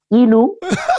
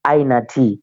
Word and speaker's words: Inuh: Africa some call me enu some call me I know but it's it's i n so it's the proper pronunciation from it is AA all right now that's